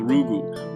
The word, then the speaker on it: Ubu: for Kent GU counter Ubu rhymes with goo goo goo goo goo um he